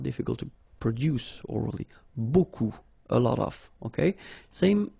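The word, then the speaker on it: beaucoup: you want to use Buu Buu means a lot of it look it looks a bit strange Buu like that remember you don't pronounce the final P okay and then you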